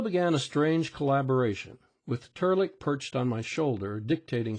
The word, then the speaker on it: Trlk: "And my name's not Fuzzy, it's Turlick. Pronounced Turlick and spelled Trlk.